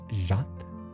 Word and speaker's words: chat: Oh, so it's actually it's not Shat, it's Jhat. Jat.